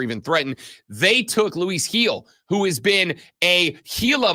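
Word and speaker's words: Gil: threatened they took Luis heel who has been a heila monster for the New York Yankees that joke uh works if you recognize his last name is spelled with a G they took heel last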